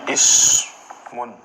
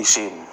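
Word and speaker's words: اِسْمٌ: Sehingga ismun ya dalam percakapan kita kita enggak sebut ismun gitu, kita sebutnya isim.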